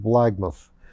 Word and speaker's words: Blackmouth: port and finally the port of blackmouth which he pronounced blagmoth to starboard where they